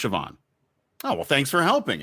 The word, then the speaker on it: Siobhan: It's Siobhan. Siobhan Yale worked with me at ESPN. It is pronounced Siobhan.